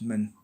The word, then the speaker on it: 们: easy because in Chinese you just use men, but you don't pronounce it men. You pronounce it men, right? But you don't go up. It's just men. So it's 我们 is we. 我们. You all. 你们. That men is not stressed at all.